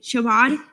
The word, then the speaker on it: Shabbat: Shabbat Jewish Student Group to host Mega Shabbat in UCF Pegasus Ballroom on February 23rd, 2024 to FAO.